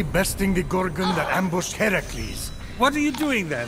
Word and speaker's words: Heracles: So, Fenyx, after boldly besting the Gorgon that ambushed Heracles... What are you doing there? That thing with your voice? Heracles?